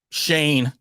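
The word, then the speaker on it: Schoen: i miss or like shane should be shown it's spelled shown but okay we'll go with that dom yeah you're awake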